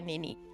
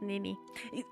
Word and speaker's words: Nene: Sorry, Nene. Ike. Ike. I'm sorry. Not Nini.